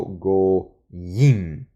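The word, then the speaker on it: גוים: Entonces, goyim, ¿no? El acento es una atznach también, así como esta y invertida, que es una atnach, un acento disyuntivo importante. Pronuncio por eso goyim, ¿ok?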